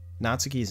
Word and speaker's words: Natsuki: the same as, like, this happens all the time between Japanese and English where most three syllable English words we're putting emphasis on the second syllable, but in Japanese you more often put emphasis on the first syllable.